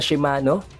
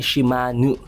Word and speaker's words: Shimanu: Imbes na Shimano, dapat matigas yung NO sa huli, magiging yung NU na dapat ang basa dito ay Shimanu. Dahil ayon daw sa language ng Kakin Empire, ang diin na yon, ang stress ng pronunciation na yon sa dulong part ng vowel ng pangalan ay nagde-determine kung babae o lalaki ang isang individual.